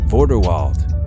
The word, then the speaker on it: Vorderwald: Vorderwald. The Vorderwald cattle, or as the Germans would call it, Vorderwalder Rind, is a dual-purpose cattle breed with a name that rhymes with Grindelwald.